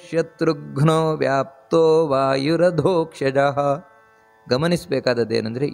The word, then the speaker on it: ಶತ್ರುಘ್ನೋ: ಹಿರಣ್ಯ ಗರ್ಭ ಅದೇ ರೀತಿ ಶತ್ರುಘ್ನೋ ಶತ್ರುಘ್ನೋ ಅಲ್ಲ ಶತ್ರುಘ್ನೋ ಅಲ್ಲಿ ಒತ್ತು ಕೊಟ್ಟು ಹೇಳಬೇಕಾದದ್ದು ನಂತರ ವ್ಯಾಪ್ತೋ ವಾಯುರದೋಕ್ಷಜಹ ನೋಡಿ